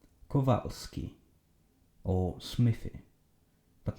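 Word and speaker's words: Kowalski: If you wish to pronounce Polish names, every time you see a W, change it to V. Kovalski or Smithy, but not like this Smiffy, like this Smithy.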